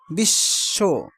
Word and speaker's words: বিশ্ব: কিন্তু পূর্ববর্ণ দীপ্ত হয় যেমন বিশ্ব শব্দে বফলা উচ্চারণ নেই কিন্তু তার পূর্ব বর্ণ কি হয়েছে দীপ্ত হয়েছে মানে দুইবার উচ্চারিত হয়েছে বিশ্ব তার মানে তালব্য সদ